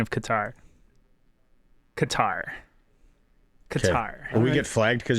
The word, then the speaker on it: Qatar: Also, off of Google, pronunciation of Qatar. Qatar.